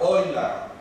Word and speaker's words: Euler: So he was a great mathematician, and even a greater mathematician in some regards was I am using the German pronunciation, I hope nobody minds, Leonhard Euler.